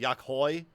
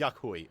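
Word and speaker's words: Yok Huy: I think I've pronounced it Yakhoi, but it's Yakhui.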